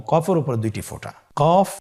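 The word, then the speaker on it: ق: কফ উচ্চারণের ক্ষেত্রে একটু মোটা করে উচ্চারণ করতে হবে। আপনারা আমার সাথে আবার বলুন কফ। আরেকবার চেষ্টা করুন। কফ। কফ উচ্চারণের ক্ষেত্রে অবশ্যই তিন আলিফ টেনে পড়তে হবে।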